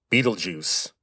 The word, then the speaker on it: Betelgeuse: By the way, that is how you say that name. Betelgeuse. Now, the spelling is German, but the name comes from Arabic.